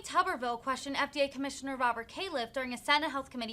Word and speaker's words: Califf: thank you very much uh thank you dr kaufman being here today it's calif by the way caleb kayla mine getting my